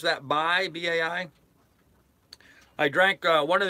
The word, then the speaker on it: Bai: I think you pronounce that Bai, B-A-I.